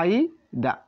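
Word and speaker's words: 間: আ আ আ আ আইদা আইদা মানে কি আমরা বাংলা উচ্চারণটা লিখে দিতেছি তবু আ ই দাদা আইদা আইদা মানে দুই এর মধ্যে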